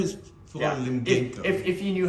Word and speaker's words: Limgenco: Is it Limgenco? Yeah, nobody... So it's not Genko. Yeah. I'm sorry. I was always like, oh, his name is Paul yeah. Limgenco.